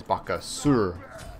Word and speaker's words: Bakasura: as he calls himself baka sewer because apparently in like the correct neck yeah what the hell the correct pronunciation is vaca sewer you don't say the